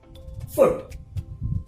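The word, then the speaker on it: foot: ओ, फूड, right, and हाउ डू you pronounce this word, फुट। आप इसमें double O को नहीं खींच रहे हैं, आप यू आर not squeezing out, यू आर नॉट एलोंगेटिंग the double O in this word.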